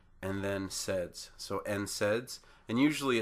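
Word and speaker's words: NSAIDs: how that's pronounced uh because we have two consonants to begin the word the n and the S uh we sound out the n and then SS so n saids and usually it's all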